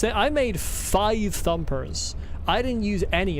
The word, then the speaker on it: phi: Technically, it should be pronounced fi with the lips kind of pressed together.